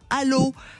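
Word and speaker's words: Allauch: Et c'est chemin de la ribassière à Allô. Allô quoi ? Mais ça s'écrit A 2 L A U C.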